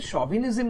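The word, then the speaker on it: chauvinism: তালিবস এর মত অর্থাৎ ইংরেজিতে এটা এস এইচ এ উচ্চারণ হয় খেয়াল রাখবে ঠিক আছে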